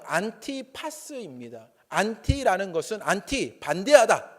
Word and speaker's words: 안티파스: 안디바를 원문으로 발음하면 안티파스입니다.